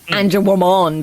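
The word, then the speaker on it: Angewomon: Yeah, because they don't like it's not like it's spelled Anja woman, but they say Anja Womon because it's Mon for Digimon.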